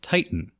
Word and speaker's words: Titan: called the Titan, and it's pronounced in Japanese Titan.